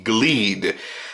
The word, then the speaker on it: Glede: way over to the glede I'm assuming that is the correct pronunciation it's GL e de and what you're getting